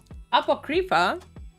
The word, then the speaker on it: Apocrypha: correct is that how it's supposed to be pronounced uh UPA apoc Apocrypha would be the correct let you say apoca